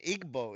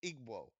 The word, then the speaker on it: Igbo: No, like so it would be like igwo. If I'm not mistaken, it's like there's a W in between the B and the O.